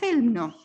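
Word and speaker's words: Chełmno: eso qué es existe se llama helno se escribe chelmno si quieren un libro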